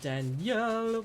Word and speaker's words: Danielle: I don't know why it's spelled Danielle but it's Daniel Daniel but he yells okay